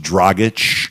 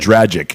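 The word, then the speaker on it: Dragić: gorillas by the way it's pronounced dragach what i can what i said tragic i calm him true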